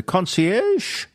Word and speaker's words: concierge: word it's a French word isn't it a concierge yes that's correct yeah conci well oie aie